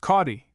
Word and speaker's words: Inchcaldy: Inchcaldy, my dear, spelled Caldy, but pronounced Cawdy, the town where you are to take your nonsensical little fripperies to be laundered.